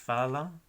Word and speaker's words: falam: Por ejemplo, fala, eles falam, ellos hablan, eles jogam. Y el sonido de esa combinación de letras AM sería an, así, an, falam, jogam.